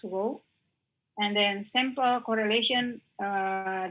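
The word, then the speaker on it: ρ: symbol is like this you can pronounce it as row and then simple correlation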